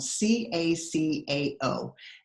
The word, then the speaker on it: cacao: of interesting so look at how this word is spelled c a CAO and it's pronounced caca and it originates from